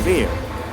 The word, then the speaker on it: where: Rule is telling that if there is WH is there, but we have to make the silent here H. So the correct pronunciation will be why, what, when, whether, and where.